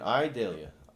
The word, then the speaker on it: Idalia: idea yeah yes Jillian I Dalia e y e Dalia yes that's how you say it right I daily it